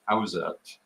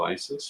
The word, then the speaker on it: Isis: don't even know uh if I had a dollar for every time someone has told me that Isis should be pronounced AET I'd have a lot of dollars and I have to tell you uh speaking from a linguistic point of view AET has not been considered an appropriate translation of Isis for at